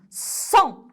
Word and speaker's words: sont: Sont. Très bien. Sont. Sont. Comment j'écris sont? كيف أكتب sont? Sont. الحرف الأول S. Sont. Sont. O-N. O-N se prononce on.